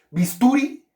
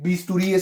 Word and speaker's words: bisturí: acento ortográfico en vista ustedes dicen bisturí nosotros son horribles bisturí no tampoco a uno dice bisturí quiere decir que su acento ortográfico está en donde en la última sílaba esas son las palabras